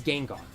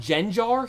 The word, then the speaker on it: Gengar: there because I'm like how could anyone pronounce Gengar like that I it might have been gen jar he said I'm like